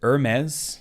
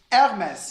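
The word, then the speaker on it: Hermès: Is it Hermes? Hermes. What? Ain't no way. It's Hermes. Now pronounce that correctly.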